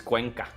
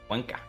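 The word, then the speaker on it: Cuenca: But because Quenza not falling, they are so comfortable sitting here. Yeah. Yeah. France brought back the volunteers from Quensa. And I know actually it's Quanka. Quanka.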